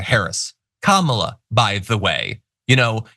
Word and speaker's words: Kamala: talk about someone like kamla Harris Kamala by the way you know he likes to talk about like men and strength and all that he's intentionally mispronouncing her name which is just such